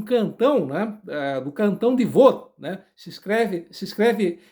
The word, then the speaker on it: Vaud: Quem entende de francês, perdão pela minha péssima pronúncia, mas se escreve dessa maneira como eu acabei de mencionar, com V-A U e D mudo, né?